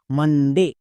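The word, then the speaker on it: Monday: তাহলে বসিয়ে দাও এম ও এন, মান। মন কিন্তু না, ও এর জন্য আকার সাউন্ড। নেক্সট, ডি, ডি এর জন্য ডো। এবার দেখো vowel blending word A ওয়াই, এর জন্য সাউন্ড হই একার। ভাওয়েল ব্লেন্ডিং এর ক্লাসে বলে দেওয়া আছে, তাই কি হলো একার। এবার উচ্চারণ করো পুরোটা, মানডে, মানডে।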